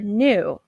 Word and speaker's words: knew: the W is silent or knew the letters KN represents hmm while the K is silent let's turn to your